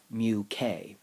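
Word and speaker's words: μk: or the coefficient of kinetic friction and that's pronounced mu k interestingly enough the sliding friction only depends on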